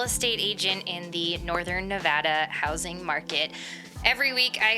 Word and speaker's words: Nevada: raised and taught in school that it was Nevada and boy was I wrong it's actually pronounced Nevada and it took me so long to figure